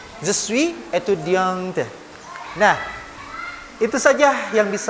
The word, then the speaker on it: étudiante: Adalah seorang perempuan, maka di akhir étudiant itu dibubuhkan huruf E, maka dibacanya je suis étudiante. Je suis étudiante.